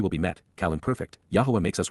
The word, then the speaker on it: Yahowah: For this reason, for thus says ky ko omar indeed this is what is affirmed by Yahwa Yahwa God's one and only name pronounced as guided by his Torah instructions on